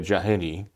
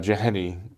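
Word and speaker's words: Jahenny: uh marie julie well i think in english we say jahini uh jahani um who actually lived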